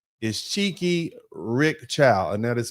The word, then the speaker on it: Chikei: Now, Rick Chow's full name is Cheeky Rick Chow, and that is spelled Chikei, Rick Chow.